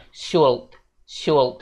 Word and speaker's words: should: Nah, untuk pengucapannya sendiri masih banyak nih yang bilang kata ini bacaannya should gitu. Nah, padahal bacaannya itu cuman should. Jadi mulai sekarang jangan bilang should ya guys, tapi L-nya itu dihilangin aja.